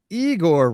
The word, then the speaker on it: Igor: Well, Igor rhymes with Seymour.